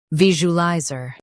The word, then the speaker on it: visualizer: Stress viz and keep oo and lie flowing.